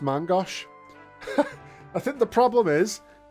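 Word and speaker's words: main-gauche: It's pronounced Mangosh.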